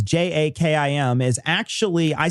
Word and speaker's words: JAKIM: Got a message from Abdul, and Abdul wanted to let us know that JAKIM, which is what we pronounce, it's JAKIM, is actually, I said it was a he.